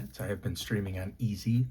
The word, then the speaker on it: Ezze: I have been streaming on Easy. It's spelled E-Z-Z-E.